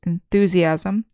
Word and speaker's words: enthusiasm: So in the noun forms, we say enthusiast, enthusiasm, with the accent on the second syllable.